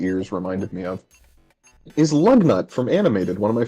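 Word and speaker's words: Lugnut: you now I'm so you know how the first syllable of lug nut's name kind of sounds like the word love Yeah were you going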